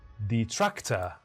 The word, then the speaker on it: detractor: Which syllable is stressed? D or track? Detractor or detractor? And the answer reveals in 3, 2, 1. Detractor.